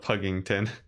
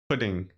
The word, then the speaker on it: Puddington: You keep reading the name wrong instead of Puggington. Oh, instead of Puggington, it's Puddington. Is that how you're supposed to say it?